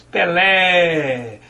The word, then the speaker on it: Pelé: Depois que você faz a separação silábica, você observa que você diz Pelé. Vejam que esse ele vai como se fosse um eco. Isso porque a sílaba lé é a sílaba tônica, a sílaba que pode ser prolongada.